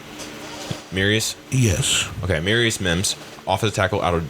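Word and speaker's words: Amarius Mims: that say his name right mirus yes okay mirus Mims offens The Tackle out of Georgia he is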